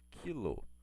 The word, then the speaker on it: quilo: é trocar só que a letra k gente pronuncia ela como a palavra quilo então o k representa